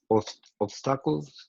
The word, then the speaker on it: obstacles: Joe and Lily faced many obstacles because they couldn't. Everybody pronounce that word with me. Obstacle. Obstacles. Obstacle. Obstacles. Obstacles. It sounds almost like popsicle, right?